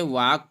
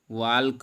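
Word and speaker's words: walk: वाक, इसको हम क्या पढ़ेंगे, वाक पढ़ेंगे, ना कि वाल्क।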